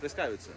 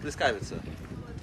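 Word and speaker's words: pljeskavica: Pleskavica. How do you say? Pleskavica.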